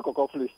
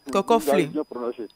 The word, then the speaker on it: Cocoflé: Vous êtes à Cocoflé. Est-ce que je prononce bien? Oui, c'est ça, bien Cocoflé. Cocoflé.